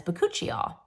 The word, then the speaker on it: bakuchiol: natural form of retinol which is known as bakuchiol and that's how you say it bikol so